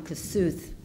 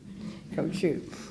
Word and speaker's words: Kossuth: I’ve been calling him ‘Kossuth’ since grade school, through high school, for many years, and now I know it’s pronounced ‘KO-shoot.’ You know his historic